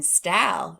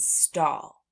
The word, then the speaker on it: stall: So these 2 words are not hal and stal. No. We pronounce these words haul and stall.